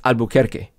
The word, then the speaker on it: Albuquerque: It's Albuquerque. Right. But by the way, Donald Trump, 2016, pronounced it Nevada.